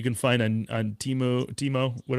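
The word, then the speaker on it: Temu: So, he also was talking about there's a bunch of Chinese knockoffs that you can find on on Teemo Teemo, what how do you pronounce that thing?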